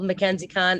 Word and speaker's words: Mackenzie Conn: my name in full mackenziecon m-a-c-k-e-n-z-i-e-c-o-n-n uh khan's pronounced like khan but it's not spelled the same way make sure it's mac